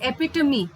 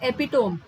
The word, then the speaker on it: epitome: So the correct pronunciation of this word is epitome. It's not epitome.